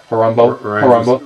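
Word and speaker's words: Horombo: Let's push on to Harambo. Rhymes with Colombo. Well, it doesn't really rhyme with. But it's, you know. Sounds similar to.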